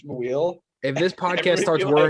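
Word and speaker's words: Muyl: gonna turn into another Alex Maweel, where everybody called him Mule for 4 years, and he's like, by the way, guys, it's Maweel.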